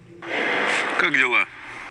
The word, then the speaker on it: Как дела: Как дела? Как дела? Как дела? Как дела? Как дела? If you pronounce it quickly, the letter K, the second K of kak, just flows.